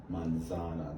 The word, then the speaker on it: manzana: monsant you say manzana the stress goes on manzana that's the second to last syllable normally that's the normal case we call the normal case manzana second to last syllable gets the stress here you have